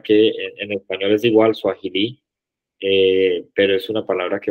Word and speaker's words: Swahili: Swahili. Swahili. Swahili. All right. Aquí la H, la pronunciación siempre, el acento. Recuerden que esta apóstrofe es la que nos indica dónde ponemos la fuerza.